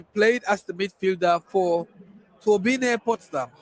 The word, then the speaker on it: Turbine Potsdam: She played as the midfielder for Turbine Potsdam, or Turbine Potsdam, if you want to say that in English, because this is Germany, so we have to pronounce it the German way. Turbine Potsdam.